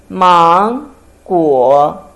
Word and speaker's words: 芒果: We pronounce 芒果. 芒果. Second tongue and third tongue.